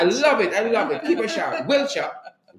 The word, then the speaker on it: Wiltshire: Somebody actually sent me the pronunciation. I love it. Keep a shout. Wiltshire.